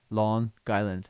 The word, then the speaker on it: Long Island: Yeah, I always learned that it was you have to pronounce with lawn and then Guyland, lawn Guyland or something like that.